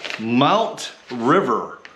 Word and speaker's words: MTRVR: And a company called Mount River, and it's pronounced or spelled MTRVR, and sent me a high back camping chair.